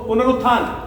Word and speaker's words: पुनरुत्थान: इसको ना हम लोग कोई कुछ गलत रॉन्ग प्रोनाउंसिएशन कर देता है और कुछ का कुछ और बोल देते हैं, मैंने कई बार सुना। तो इसको आप अच्छे से बोल दो, पुनरुत्थान, पुनरुत्थान, पुनरुत्थान, यही बोलना है।